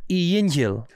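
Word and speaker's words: Yghngjhyll: My name is pronounced Yingy Hill.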